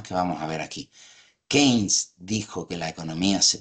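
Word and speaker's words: Keynes: 36 estuvo por ahí kein eh En verdad se pronuncia kein vale publicó la teoría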